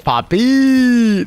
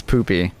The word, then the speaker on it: Poopy: Poopy is pronounced with a U. Sorry, what did I say? Did I say Poppy? Poy. Poppy. No, it's Poopy.